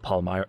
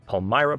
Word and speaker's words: Palmyra: all one way or another now I ruled Palmyra Palmyra Palmyra said it wrong the first time try